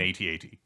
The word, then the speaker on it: AT-AT: Vader one yeah which I don't I don't pronounce it at at I just spell it out AT-AT yeah I think that